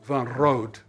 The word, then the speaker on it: van Rood: my name is van rood in dutch it's pronounced van road and rhode it means